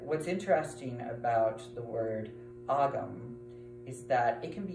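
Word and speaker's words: Ogham: But what's interesting about the word agam is that it can be used to refer, or oum, I should say. I believe that's how the Irish pronounce it.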